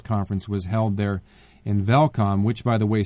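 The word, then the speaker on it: Welkom: was held there in velcome which by the way starts with the W but it's pronounced with a V and so we stayed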